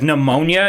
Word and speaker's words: pneumonia: completely like pneumonia is like a common thing like we should just drop the p off of that thing